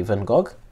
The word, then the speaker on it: Van Gogh: I know that in Dutch you say it differently. I'm saying with the Portuguese pronunciation we say Van Gogh.